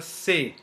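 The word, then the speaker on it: ça: just before okay so say is pronounced as sa and not as we have just seen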